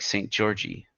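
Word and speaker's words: Szent-Györgyi: George and is pronounced just like St. Georgie.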